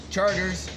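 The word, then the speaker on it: Chartres: You call it Chart Street, Charters. A couple streets over, you go over to, it's spelled Burgundy, but everybody says Burgundy.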